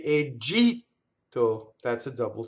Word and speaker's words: Egitto: In Italian, it's egito. It's very, very much a T, but it's not egito with air, right?